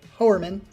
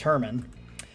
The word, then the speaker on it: Herman: Herman, or as I like to say, Hoerman, because that's the way it's spelled. But I guess it's Herman.